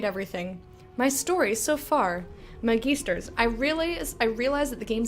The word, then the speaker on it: Magister: Alright, so I'm gonna be pronouncing this Magister, not Magister. Like, not like Magistrate. Like Magister. Magisters!